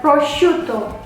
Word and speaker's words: prosciutto: Dibacanya prosciutto, bukan prosciutto, bukan prosciutto, but prosciutto with some pressure T. Because it's double.